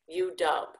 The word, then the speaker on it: UW: Dub is the first syllable of the letter W. So you wanna pronounce it UW, but you wanna still hold on to the dub a little bit longer.